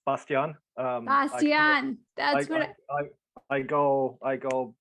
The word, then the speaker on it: Bastian: Well, Bastian, yeah, it's the English pronunciation. In German, it's Bastian.